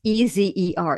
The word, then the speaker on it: Ezer: And in the Bible, the Hebrew word, it's E-Z-E-R, it's pronounced Ezer.